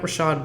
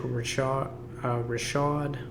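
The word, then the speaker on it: Ricard: Patrick Rashad. I think that's how you say his name. It's not Richard.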